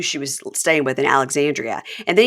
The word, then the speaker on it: Alexandria: in Alexandria and then he just started shortening it to Alexander who are you staying with there in Alexander it's like eie if you're gonna bch my town at least say it right yeah oh EB and